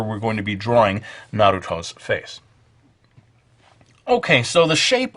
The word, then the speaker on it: Naruto: notice I don't say Naruto I just can't say it that way the Japanese pronunciation is more or less Naruto so we're going to